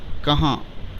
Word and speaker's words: کہاں: یہاں۔ چوتھا لفظ ہے کہاں، ہجے اس طرح کریں گے: کاف زبر کا، ہے الف زبر ہا، نون غنہ ساکن، کہاں۔ اس کے بعد ہے